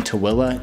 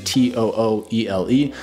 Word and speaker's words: Tooele: So if you don't mind a commute, you don't mind living a little bit further out, then Tooele, yes, that's how you pronounce it. Tooele is pronounced Tooele.